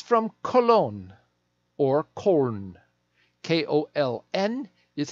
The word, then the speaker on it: Köln: It's from Cologne, or Köln. K-O-L-N is how the Germans spell it.